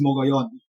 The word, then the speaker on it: Mogollon: I looked online, actually, and there are several pronunciations. Some say Mogollon, some say Mogollon, but I'm inclined to pronounce it in the Spanish way, which is Mogollon.